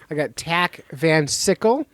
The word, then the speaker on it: Tach Van Sickle: As I said earlier, I got Tack Van Sickle. Rhymes with popsicle if you're trying to get it right when you're saying his name.